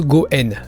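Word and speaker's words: 五円: C'est tout simplement parce que 5 en japonais se prononce Goen, et Goen signifie aussi lien pour maintenir les relations.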